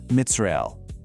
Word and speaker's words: Mitzrael: Start softly with the constricted root Metzar. Feel the tightness of that first syllable. Then you release it into the angelic name Mitzrael. Notice how the sound inherently moves from closed and tight to wide and open.